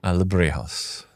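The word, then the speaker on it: Alebrijes: Alebrejos.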